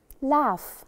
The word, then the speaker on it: laugh: two letters e d laughs lafayette laughed laughed we also added e d and the g h again here in the word laugh we do not pronounce them climb so what do